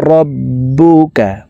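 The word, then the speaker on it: رَبُّكَ: ফাআলা রাব্বুকা, বার উপরে তাসদিদ আছে, তাসদিদওয়ালা হরফ দুইবার উচ্চারণ করিয়া পড়িতে হয়। একবার পূর্বের হরকতের সঙ্গে আর একবার নিজ হরকতের উচ্চারণ হবে।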